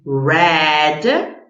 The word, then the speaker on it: read: put read red red okay this is a verb that it's um irregular in pronunciation you write them in in the same way equal but the pronunciation in present in the past is completely different so read read run